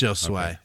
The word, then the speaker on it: Josue: I think Oh, it's Josue.